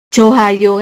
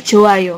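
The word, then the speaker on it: 좋아요: Jadi enggak enggak dibaca bukan ee bukan juga dibaca Johayo kayak gitu, tapi Joayo kayak gitu aja.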